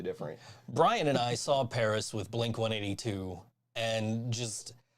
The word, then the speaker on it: Pris: I think you pronounce it Paris. Yeah, it's pronounced Paris.